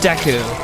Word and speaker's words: Deku: And yes, I pronounce it deu. So, uh the reason why I did that is cuz the first person I ever heard pronounce it and introduced me to Zelda uh pronounced it that way. So, uh that's how I pronounce it. I don't care if it's pronounced Deku because that's what the